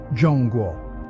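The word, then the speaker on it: 中国: So both China in English and China in Spanish, despite sharing the same pronunciation and spelling, are exonyms for what the locals call Zhongguo.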